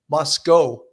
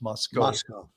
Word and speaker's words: Moscow: And that's why I think that the Moscow, it's apparently it's not pronounced Moscow like in the Soviet Union. It's pronounced Moscow.